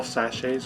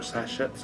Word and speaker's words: sachet: out a lot carrying little sachets or sachets I keep here a little different pronunciation see sashay away uh-huh exactly haga um